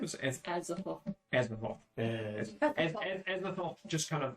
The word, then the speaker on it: Azathoth: Is Azathoth.